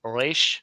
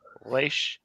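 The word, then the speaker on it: ריש: Reish or reish, but properly you're supposed to pronounce it in the back of your throat like reish, reish. It's hard for Americans.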